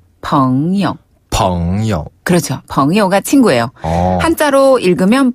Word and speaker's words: 朋友: 자, 친구는 朋友. 네, 여기서 영어는 짧게, 가볍게. 아, 네. 朋友. 한번 더. 朋友.